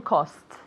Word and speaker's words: costs: At all costs. Something is missing. Something's missing. All I right. need to hear the two S's. It's Right. difficult. Very difficult sound.